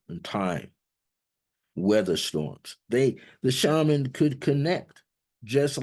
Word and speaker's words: shaman: to seek out the shaman. And who is the shaman, or sometimes pronounced shaman?